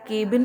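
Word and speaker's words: cabin: आपका CC, that is कैबिन crew. One thing मैं बताना चाहती हूँ कि बहुत से लोग इसको केबिन प्रोनाउंस करते हैं, ये केबिन नहीं होता, इट्स कैबिन।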